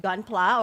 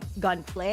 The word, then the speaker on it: Gunpla: Is it Gunpla or Gunplay? It's Gunpla, short Gunpla. for Gundam plastic model.